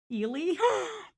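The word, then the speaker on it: Ehle: were like sorry um it's actually pronounced eely what am i dyslexic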